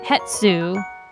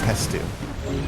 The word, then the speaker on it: Hestu: You said it wrong. It's Hestu. Is it Hestu? Yes. Okay. He's Stu, remember?